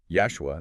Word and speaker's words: Yashua: And it gets even more specific with the mention of an ancient rabbi, Yashua, that's Y-A-S-H-U-A, pronounced like Joshua, only with a Y sound at the start cited in the Gemara.